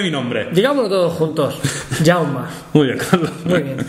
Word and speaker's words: Jaume: No esco ya Eh pues mi nombre es yauma que está que lo estoy hoy bueno en fin festival de humor jauma que es Jaime en catalán se pronuncia también se pronuncia yauma no se no se pronuncia jauma ni jaume